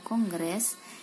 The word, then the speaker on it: kongres: berikutnya tadi ujian sesungguhnya jadi kongres walaupun bacanya Konggres itu penulisan yang setelah kongres gitu